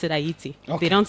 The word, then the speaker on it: Ayiti: were the first black republic in the African pronounce it. Aayiti. Okay. So people in Aayiti pronounce it Aayiti. They don't say they don't say hatiti.